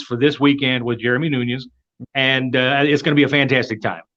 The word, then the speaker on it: Nunes: I pronounce it Nunes.